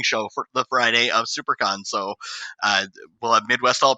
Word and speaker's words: SiouxperCon: So be on the lookout for SuperCon's YouTube page. That's spelled like Sioux Falls, SIOUXPERCON.